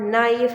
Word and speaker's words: knife: on the beginning but if the K containing n as a second letter in the spelling you will be not pronouncing the word k for example as a word knock as a word knife as a word no